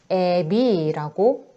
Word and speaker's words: 아비: 아비, 우리 아라는 여기 후설 모음이 비 할 때 이라는 전설 모음을 만나서 휙 이렇게 이동하죠. 그래서 애비라고 발음하는 거.